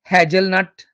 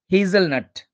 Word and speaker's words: hazelnut: hilly areas it is h a z e l t not hagelnut or hegelnut it's hazelnut hazelnut hazelnut hazelnuts are rich